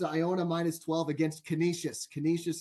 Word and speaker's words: Canisius: minus 12 against Canisius Canisius is how you pronounce the school okay Tito I would